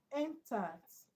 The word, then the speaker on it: intact: Intact. We've looked at this word before. Intact. Intact has a sound, strong vowel sound, and second syllable and is.